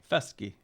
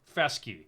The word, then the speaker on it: Festge: Festge. Festge.